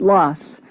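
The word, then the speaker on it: Laas: the past half century their last name is spelled l a a and pronounced loss mark loss had never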